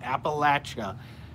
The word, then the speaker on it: Appalachia: I love Museum of Appalachia and yes I'm saying it right Appalachia that's the correct the correct the correct pronunciation alesis how people who say that live in appellate Appalachia say it we're I don't know